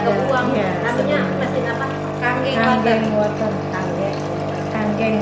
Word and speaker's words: Kangen: Kanggeng water. Kanggeng. Kalau orang Indonesia mah emang nyebutnya nggak mau ribet, kangen water gitu. Tapi kalau bahasa Jepang itu dibacanya kanggeng water.